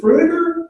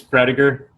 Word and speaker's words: Prediger: And then we also have, is it Frudiger? Did I pronounce it? It's Prediger.